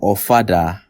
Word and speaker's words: ofada: All you need to know is that ofada rhymes with your father.